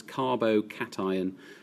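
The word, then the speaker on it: carbocation: cation which you can see written there to pronounce carbo cation cation generally meaning positive iron and here on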